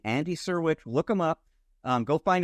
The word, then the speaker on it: Syrewicz: So if you want to look him up, his name is pronounced Serwich, but it is spelled SYREWICZ. Those last three letters were C as in Charles, Z as in Zebra, E. Andy Serwich, look him up.